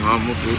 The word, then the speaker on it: Eha-amufu: This is a roundabout in Eha-amufu.